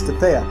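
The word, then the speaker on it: Cthaeh: gonna mess this up, Cthea? It's spelled like Cthulhu, but it's Cthea.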